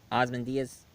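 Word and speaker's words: Ozymandias: movie ah Sam Mendes ozmandius it's how it's pronounced they're hinting that this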